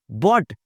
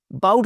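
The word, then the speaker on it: bought: बॉट, बाउट नहीं बोलना, बड़ी मेहरबानी आपकी, बाउट कोई लफ्ज नहीं होता, इट्स बॉट।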